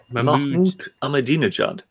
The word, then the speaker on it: Mahmoud Ahmadinejad: Mahmoud Ahmadinejad. That's the one. Thank you for the pronunciation.